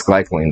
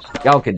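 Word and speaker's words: Galkyd: Galka gel. I've been saying it wrong.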